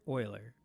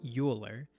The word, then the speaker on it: Euler: euler's number after leonard euler probably top three greatest mathematician of all time his name is not phonetically pronounced so it's not euler but euler and this